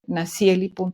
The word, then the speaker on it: Nashieli: es dentro de la misma escuela mi nombre naeli @el nedu MX en linkedin estoy igualito